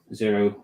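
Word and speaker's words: Xero: I used to use zero zero spelled with an X you probably seen that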